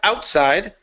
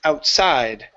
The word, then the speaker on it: outside: go to outside so our stress is going to be at the end here instead of outside it's outside outside good good so when